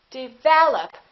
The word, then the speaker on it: develop: Develop. Second syllable is stressed. This is reduced.